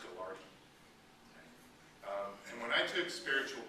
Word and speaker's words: Gaillardetz: i l l a r d TZ it's pronounced gardi um and when I took spiritual preaching in seminary